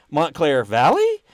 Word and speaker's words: Montclair Valley: That's how it's said. You have to go up on the end like a question, just like you put it in chat. Montclair Valley.